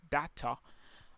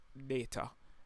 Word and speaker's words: data: some persons pronounce it data and some persons pronounce it data anyway it both both works okay so let's get